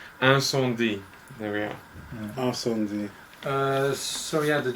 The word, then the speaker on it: Incendies: Okay, we haven't been pronouncing it properly. I think it's Incendies.